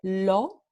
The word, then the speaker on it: lo: Entonces, este pronombre lo en español se pronuncia lo.